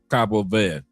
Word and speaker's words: Cabo Verde: Cabo Verde or Cabo V with no D, no E. Cabo V or Capo V.